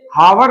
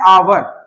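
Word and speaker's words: hour: शुरू हो रहा है ये हावर नहीं है ये क्या है अवर तो ए से स्टार्ट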